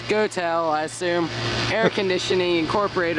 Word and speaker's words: Goettl: Goodman by the way g o e t TL which I pronounce is goel I assume air conditioning